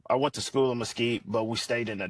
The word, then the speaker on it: Mesquite: Am I pronouncing that right? Mesquite, Texas?